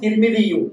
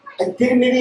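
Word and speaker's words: الترمذي: അത്തിർമിദി എന്നാണ് മഷ്ഹൂറായ ഉച്ചാരണം. നമ്മുടെ നാട്ടിലൊക്കെ ചിലര് തുർമുദി എന്ന് പറയും. അതിന്റെ പ്രസിദ്ധമായ ഉച്ചാരണം എന്താണ്? അത്തിർമിദി. അതായത് താന്താണ് കസ്റാണ് കൊടുക്കേണ്ടത്.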